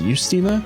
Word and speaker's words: Justina: Luke, Hisui, Luke, Justina, who I recently learned it's pronounced Justina, so add that to the list of characters that I say wrong, Luke, William, Lucas, Barbara, Lucas Lewandowski, and Tia.